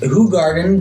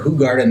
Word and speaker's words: Hoegaarden: Yeah, today we have Hoegaarden, or as it should be pronounced, Hoegaarden, but if you go to a bar and ask for Hoegaarden, they're all going to look at you like you're insane.